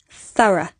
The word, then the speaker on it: thorough: Sometimes it can be pronounced as the schwa sound, thorough.